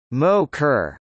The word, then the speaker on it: MOCR: The room where the flight controllers work was called the Mission Operations Control Room (MOCR), pronounced Mo-Kerr, and now is called the Flight Control Room (FCR), pronounced Ficker.